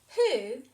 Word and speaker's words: who: first one is who who has a silent w at the beginning of the word but having it turns this o into the o sound that's why it's tricky you just have to remember this one the other tricky word